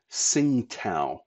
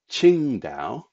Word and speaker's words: Qingdao: this port name, because you're forever hearing it called Tsingtao by people, but that is not how it's pronounced. It is Qingdao.